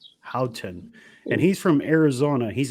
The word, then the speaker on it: Howton: how do you say your last name Randy Houghton Houghton and he's from Arizona he's a guide out